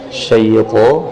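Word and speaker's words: شيطان: Syaitan, huruf ta diucapkan, ujung lidah bertemu dengan pangkal gigi seri atas. Jadi bukan bertemu dengan ujung bibir. Syaitan tidak. Tapi bukan huruf bibir tapi huruf lidah bertemu dengan gigi seri atas.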